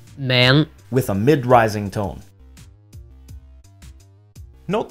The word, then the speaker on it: 名: This word, or word component, meaning name, is pronounced in Mandarin as 名 with a rising tone. And in Cantonese, it's 名 with a mid-rising tone.